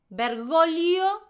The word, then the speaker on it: Bergoglio: La G no existe cuando la pronuncias. Entonces los ejemplos serían familia, familia. Bergoglio, bergoglio.